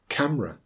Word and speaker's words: camera: You may have heard these words pronounced: different, chocolate, camera, separate. They are all words that should have 3 syllables, but have been reduced to 2 by dropping the schwa.